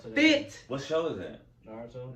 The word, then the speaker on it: Naruto: Naruto. Naruto.